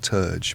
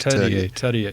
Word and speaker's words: Terje: And it was a guy called, I'm going to pronounce his name wrong now because it's not Turge, but it's spelt Turge. Terje Jensen.